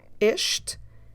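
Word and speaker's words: este: the singular words and in Portuguese we have as usual a masculine this isht and The Feminine this ashta isht Karu okay let's move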